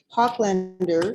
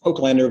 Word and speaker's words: Oaklander: our guest tonight hoplander is president is that how you say your last name oaklander but fine i